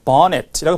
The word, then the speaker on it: bonnet: 그래서 bonnet이라고 발음해요. 본데트는 아니고 영국식 영어고요.